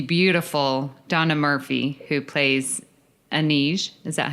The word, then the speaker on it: Anij: Well, one thing Insurrection did bring us was the beautiful Donna Murphy, who plays Anij.